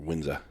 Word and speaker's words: Windsor: We're kind of right in the middle of Windsor, Maine, or Windsor, if you want to say it right.